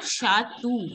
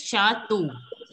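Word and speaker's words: château: Yeah, Bhuvneshwari, it's not Shatu, it is Shato. Wherever there is EAU. See, just a second. Wherever there is E-A-U, it is pronounced as O, the letter O.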